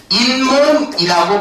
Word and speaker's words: 잇몸: 그러면 이 사이에서 발음이 어떻게 되는 거냐면 잇몸이라고 발음이 된다고. 맞지? 그러면 이 이라는 단어와 몸이라는 단어 사이에 어떤 소리가 덧났지? 니은 소리가 덧나게 됐지. 그러니까 니은 소리가 첨가됐다라고 볼 수가 있겠지.